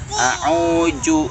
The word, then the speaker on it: a'udzu: A'udzu, a'udzu. Za itu di ujung lidah dan ujung gigi. A'udzu. Ya, Pak Deng.